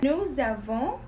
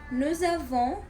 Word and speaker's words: nous avons: Nous avons and vous avez. Ils ont and ils ont. The S, we're going to pronounce it like a Z letter.